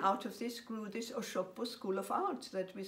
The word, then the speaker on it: Osogbo: And out of this grew this Osogbo School of Arts that we still talk about today.